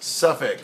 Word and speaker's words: Suffolk: Suffolk is spelled Suffolk, and it's pronounced Suffolk.